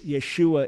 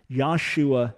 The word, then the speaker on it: Yeshua: but in any case yeshua is definitely the right pronunciation yahshua never existed isn't it that doesn't